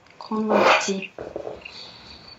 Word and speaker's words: converti: Il ne faut pas converti. Du tout entendre le N. Pas de N. N вообще не должно быть. Converti. C'est le piège.